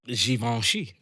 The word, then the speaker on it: Givenchy: what it is so how do you pronounce givenchy the sheep on she okay that's it do